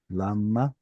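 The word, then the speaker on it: למה: This should have secondary stress on it. It's not a kamatz katan. Lama.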